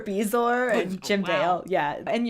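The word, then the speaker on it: bezoar: so I have like he mispronounces a few things like Bourgeois for beezor and Jim Dale yeah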